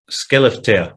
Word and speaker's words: Skellefteå: Skellefteå, that's how it's pronounced.